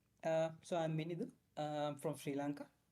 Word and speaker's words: Minidu: So I'm Minidu. I'm from Sri Lanka. Right now I have 2 years of experience in design, and It's right so now I'm it's Minidu. yes, it's Minidu.